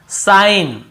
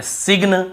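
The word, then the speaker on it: sign: ग को नहीं पढ़ यहां पर भी साइन सिन नहीं पढ़ेंगे साइन पढ़ेंगे ठीक है ऐसे सिन ऐसे नहीं पढ़ना हमको साइन ही पढ़ना है लेकिन जी को नहीं पढ़ना है सिगन कई लोग सिगन बोल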